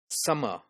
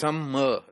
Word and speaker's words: summer: When we are discussing its phonology, make sure that two letters in any word are pronounced once. They are not pronounced differently. For example, if we have a word like summer, so we have a single sound of these two letters, double M letters. So we pronounce it summer, right? We do not summer. This is incorrect.